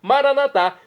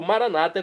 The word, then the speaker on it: maranatá: Agora eu clamo do dialeto de Jesus, o aramaico, maranatá, como dizemos nós católicos, ou maranata, como dizem nossos irmãos separados, os evangélicos ou protestantes. Não importa a pronúncia, o significado é o mesmo.